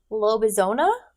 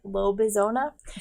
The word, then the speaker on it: Lobezona: tell you about is lobezona i don't know if i'm saying it right but it kind of looks like arizona but not so that's how i'm pronouncing it low bizona by uh romina garber